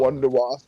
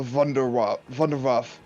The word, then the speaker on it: Wunderwaffe: And I was telling Brett earlier that the Germans don't pronounce W's, they pronounce W's as V's. I mean, I already know So this. the Wonderwaffe. I'm telling Brady. Oh, The well. Wonder Wasp EG2 from Zombies, babe, Yeah.